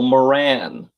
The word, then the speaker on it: Moran: Heather is saying it's emphasis on the second syllable. Moran.